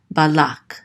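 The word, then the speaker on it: בלק: This is ba, and then the lamed with the kamatz, so this says la, and this kuf closes out this syllable, so it says lak, balak.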